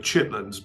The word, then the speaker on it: Chitterlings: It's pronounced Cherrywood Chitlins, but it's spelled Cherrywood Chitterlings.